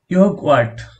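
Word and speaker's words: Joghurt: ইয়োগওয়ার্ট, যার অর্থ দই। আমি আগেই বলেছিলাম ইংরেজি জে এর উচ্চারণ জার্মান ভাষায় ইয়োট।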